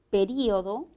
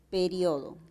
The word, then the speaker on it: periodo: tener cuidado con ellas por ejemplo la palabra periodo periodo también puede ser pronunciada como período o la palabra fútbol